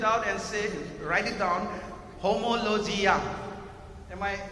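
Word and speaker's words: ὁμολογία: Homologia. Am I pronouncing correctly, Pastor?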